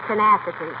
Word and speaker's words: tenacity: let's go right here that that word de is tenacity oh well I know